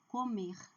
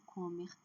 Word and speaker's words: comer: Então, falar, comer, pedir. Não é falar, não é comer, não é pedir. Ou pedir. Não. A última sílaba é forte.